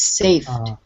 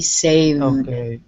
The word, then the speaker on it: saved: with the v sound because if you don't have the v in your throat it sounds like f so it becomes safe it has to be saved save okay yeah much better